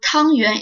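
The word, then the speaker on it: 汤圆: Yuan xiao, also called tangyuan, is a dumpling ball made of sticky rice flour stuffed with different fillings. Tangyuan is pronounced similarly to tuanyuan, which means the whole family gathering together happily.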